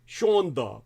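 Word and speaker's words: שאַנדע: I'm going to use a Yiddish ISM here shond really it's pronounced sha in Yiddish the word sha spelled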